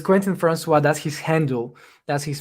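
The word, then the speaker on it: Quentin François: You pronounce it perfectly. Perfectly. So it's Quentin Francois.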